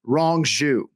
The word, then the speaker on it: Rong Zhu: Rong Zhu. Wrong Jew is how I've been trying to remember the pronunciation, incorrect Jew, wrong Jew.